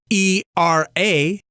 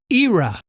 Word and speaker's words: era: continent by the way the word spelled e r a is pronounced era in Canada and the UK while its pronunciation is